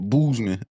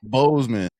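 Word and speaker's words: Bozeman: He said boozeman. How you say it? How you supposed to say? Boseman.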